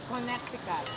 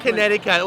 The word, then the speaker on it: Connecticut: Ganun pala tamang pag Connecticut. Wala siyang T. Wala C. Hindi siya Connecticut. Dati akala ko ito yung Connecticut.